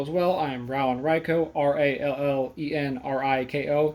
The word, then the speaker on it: Riko: I am Rallen Riko, R-A-L-L-E-N-R-I-K-O. Yes, it's Riko, even though it's spelled R-I-K-O. It's not Rico. Think of the Pokemon Riko.